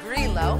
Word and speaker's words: Grillo: The next two wines we had were pronounced Grillo, even though it looks like G-R-I-L-L-O, so remember that.